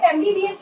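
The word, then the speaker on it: MBBS: सो यहाँ पे एमबीबीएस को हम एम से प्रोनाउंस करें।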